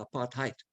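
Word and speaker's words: apartheid: South Africa was the country of apartate or if we use the German and American pronunciation apart height. The word aparate is an Africans and Dutch word meaning segregation.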